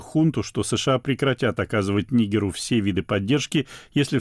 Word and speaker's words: Нигер: Одна из главных международных тем последних недель – военный переворот в Нигере или Нигере. Словари дают оба варианта ударения, хотя в России чаще всего говорят «Нигер».